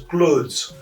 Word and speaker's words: clothes: For example, clothes, not cloths. It is pronounced as clothes.